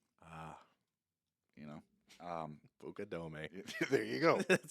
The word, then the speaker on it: Fukudome: in chicago wrigley field pitching against the cubs um the uh i'm facing coast fukudome ah you know um pukadome there you go it says it all right